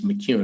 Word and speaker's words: McKeown: His name is spelled McKeown, but it's McEwen is how you pronounce it.